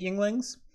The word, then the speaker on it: Yuengling: Well, last year they partnered with Hershey's to release a porter, which usually Yuengling's only has one beer, which is their lager.